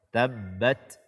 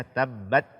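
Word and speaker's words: تبت: dimuliakan ada Allah azzawajalla membaca tak sukun tanpa Hamas karena huruf ta salah satu sifatnya adalah Hames ketika kita membacanya disertai dengan Hai aliran nafas atau angin dan b dan Mbak Yada Abi lahabiw tabbat jangan sampai sifat Hamas ini kita tinggalkan dan sampai kita hanya membaca tabbat Yada tabbat Yada akan tetapi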